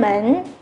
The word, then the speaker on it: 门: Mến này âm Hán Việt là môn.